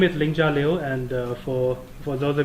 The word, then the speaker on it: Lingjia Liu: we can sing about it's kind of ninja with L okay so it's a close to ninja without all right so